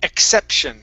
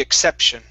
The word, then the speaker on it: exception: Next one here, exception. Make sure to pronounce that P. You don't want to be the exception.